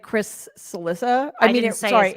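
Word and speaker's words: Cillizza: schadenfreude oh like like Chris salissa I mean sorry it rhymes with Chris Alissa long more than a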